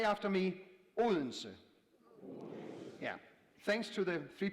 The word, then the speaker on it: Odense: Well, ladies and gentlemen, the D is silent. So it's Odense. So say after me, Odense.